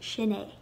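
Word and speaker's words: sin é: to say that is then you say shin a with no h sound just shin a if it's a female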